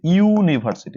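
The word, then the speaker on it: university: বসেছে এর কারণ হচ্ছে এই ইউটার উচ্চারণ হচ্ছে ইউনিভার্সিটি তাহলে ইউ এর মতন উচ্চারণ হ্যাঁ যেমন আমি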